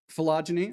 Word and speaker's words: phylogeny: to tell me if that is the correct pronunciation? Yeah. I'll take your blank stares. Oh, hey, somebody actually spoke up. Great. Phylogeny, all right.